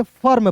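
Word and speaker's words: firm: उसके बाद दोस्तों यहां देखेंगे एफ आई आर एम तो फिर नहीं पढ़ेंगे। फर्म पढ़ेंगे। क्यों? क्योंकि देखिए यहां पे एफ का दोस्तों लिखना है। फ लिखना है। एम का दोस्तों लिखना है। म लिखना है। और यहां पे आई है तो छोड़ दीजिए। साइलेंट कर दीजिए। ठीक है? क्यों करेंगे? क्योंकि इसके पीछे लॉजिक है। देखिए किसी भी कंसोनेंट के बाद आई वोवेल आए। उसके बाद दोस्तों आर आए और आर के बाद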